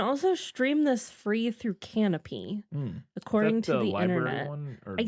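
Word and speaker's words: Kanopy: you're searching for that it's spelled k a n o p y yeah so if you're looking for canopy that's what it is uh you can also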